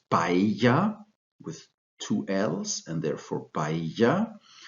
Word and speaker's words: paella: the king for pronunciation Double L in the Spanish language is pronounced I'm pretty sure most of you know that examples are the world famous rice dish from Spain this is paella with two L's and